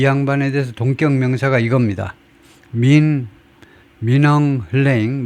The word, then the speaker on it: Min Aung Hlaing: 민엉 흘레잉, 뭐 대충 그 정도로 발음하는 것 같아요. 민엉 흘레잉, 이 사람이 already deeply unpopular, 이미 무지무지하게 인기가 없는 지도자다 이거죠.